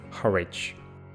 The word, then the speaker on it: Harwich: for some strange and completely unexplainable reason, it's pronounced Harwich. The bombers belonging to the 99th Gruppo were led by Tenente Colonnello Giambattista Cicu. They approached Harwich at 2:40 p.m.